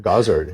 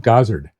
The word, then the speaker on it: Gozzard: Gazard. Yeah. So, I made a simple uh decision to contact the factory. When they answered the phone, they said Gazard.